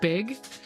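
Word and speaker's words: beag: the the Scots Gaelic word for small is pronounced big.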